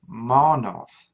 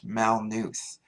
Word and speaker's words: Maa-nulth: one important thing to note is that it's pronounced mano not mal news and if you hear anybody say Mountain News